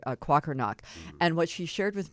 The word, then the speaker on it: Kwakernaak: this, but her name's Shannon, I want to pronounce it correctly, Kwakernaak.